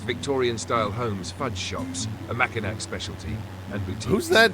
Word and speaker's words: Mackinac: Its pronunciation is Mackinac, a throwback to the original French spelling.